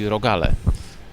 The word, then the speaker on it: rogale: Singular form is rogal. Plural would be rogale.